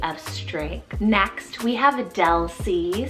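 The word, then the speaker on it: Delsie: it means lady of strength next we have del c spelt d e l s i e del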